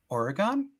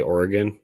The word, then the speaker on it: Oregon: Cody, people pronouncing Oregon? Isn't that how you say it? Usually people say Oregon.